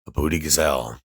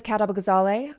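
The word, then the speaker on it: Kat Abughazaleh: Uh, I I'm going to let her pronounce her name because again, a booty gazelle. I I don't know. Um, let's see. My name is Katab Gazale.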